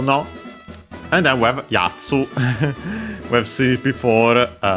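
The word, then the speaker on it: やつ: And then Yatsu accent on the first mora, Yatsu. So high-low.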